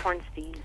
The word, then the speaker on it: Hornstein: your last name correctly it's hornstein hornstein it's always the opposite was much worse people butchered that 10 times worse so hornstein hornstein it's fine horn you just answer to whatever sounds you just hear that the H sound right and you're just that's